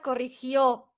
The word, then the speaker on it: corrigió: Aguda, es una palabra aguda, corrigió. Recuerden, corrigió. ¿Ok? Tiene su sílaba tónica en la última sílaba.